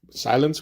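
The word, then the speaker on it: Psilence: got task and silence Silence with a p a silent P who are raw rookies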